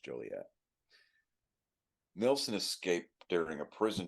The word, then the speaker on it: Joliet: That's what that's pronounced, Joliet.